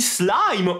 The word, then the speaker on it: slime: Et voilà, j'ai trouvé ceci sur le web pour Siri le phénomène du slim. Non, on dit pas slim, on dit slime ou slime, éventuellement.